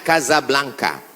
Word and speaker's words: Casablanca: kuliah nama negaranya Maroko ibukotanya tulisannya Casablanca cara bacanya Kasablanka Gaza artinya rumah Blanca